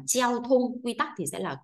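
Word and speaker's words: 交通: là gì đấy ạ giao thông đọc là treo thung quy tắc thì sẽ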